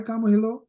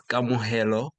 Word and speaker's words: Kamo: Hi, Kamillo. Hi. I I hope I pronounce right. Nah, it's it's it's good. Your the pronunciation is all right. How how you pronounce? It's camo. Camo.